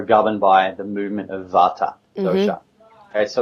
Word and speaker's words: Vata: Vata or Vata. It's spelt with a V, but it's pronounced with a W.